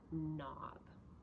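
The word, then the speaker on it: knob: of the word and the K is silent so if I add o be I have the word nob okay okay does not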